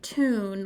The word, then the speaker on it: tune: So U consonant magic E can make 2 sounds. It can say the U like mule, but it can also say ooh like tune, like if you think of Looney Tunes.